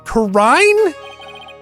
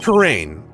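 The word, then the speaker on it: Kurain: Karine? Your Eminence, it's pronounced Karain.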